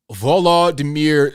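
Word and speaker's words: Volodymyr: type names um okay I'm gonna try to pronounce it Volo damir zielinski his first name is spelled v-o-l-o-d-y-m-y-r for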